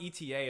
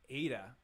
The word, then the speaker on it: eta: yeah yeah yeah omicron oh omicron i was pronouncing omnicron i'm kappa delta lambda beta tau phi it's not eta it's ada alpha omicron zai sigma thyta oh that's interesting